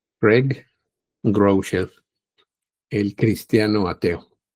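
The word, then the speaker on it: Craig Groeschel: Así se pronuncia Greg Grell, el cristiano ateo.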